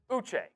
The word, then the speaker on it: Uche: Uche.